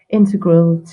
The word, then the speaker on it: integral: standing meditation which is integral to or integral As Americans say integral to uh all the